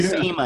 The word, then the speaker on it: schema: You're a schema and a dreamer. It is actually a long E in schema.